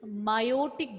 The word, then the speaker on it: meiotic: But diploid cell is undergoing division and forming haploid cells, then it is meiotic division. Mitotic and meiotic. Okay, E is silent in meiosis.